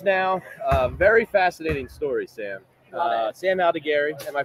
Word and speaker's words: Sam Aldegheri: Sam Aldegheri, am I pronouncing that correct?